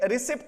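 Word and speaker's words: receipt: ये बेसिकली क्या है, नहीं सॉरी, इसमें बेसिकली क्या है, ये रिसिप्ट बोलते हैं, तो इसमें ये क्या होता है, पी जो है वो साइलेंट होता है, तो ये क्या होता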